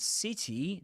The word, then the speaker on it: city: And city, the thing is that city has two I sounds. The first one in the first syllable, in the stressed syllable, that's C, I. That's the kit vowel sound. I, city, kits. Or ship, as in the boat, And the second I, which is like a more smiley, smiley E.